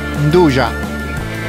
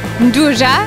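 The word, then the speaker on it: 'nduja: And this is, come si pronuncia perfettamente? Nduja. Nduja.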